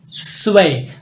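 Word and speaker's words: zwei: है आपके पास टू स्वय तो ये जो जड है ये बेसिकली एस की आवाज दे रहा है सीन की आवाज दे रहा है तो इसको पढ़ेंगे स्वय स्वय उसके बाद थ्री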